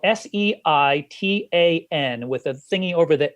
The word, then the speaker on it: seitan: called, it's spelled Seitan with a thingy over the A. So they call it seitan. They should just call it Satan, you know? That's kind of how it really sounds.